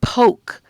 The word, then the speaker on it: poke: p and then o the O silent E has the o sound and then C okay let's blend it together ready begin p o what's the word yeah if you said poke you're absolutely right that's